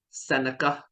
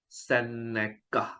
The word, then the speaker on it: Sceneca: investment and today we're going to talk about Seneca residences is pronounced Seneca Seneca residences and this product is interesting because uh